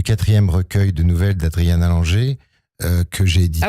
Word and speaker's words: Langer: Écoutez, il s'agit du 4e recueil de nouvelles d'Adriana Langer que j'ai édité. Ah oui, moi je dis Langer, mais c'est Langer. L-A-N-G-E-R, mes excuses.